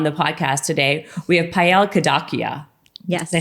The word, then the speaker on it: Payal Kadakia: for me on the podcast today we have paella kadakia yes i say it correctly yes he did